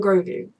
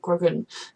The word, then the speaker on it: Grogu: time she said it it sounded kind of like grogan no grogan groga grogu groga and then when he says it sounds like goku just i'm stressed that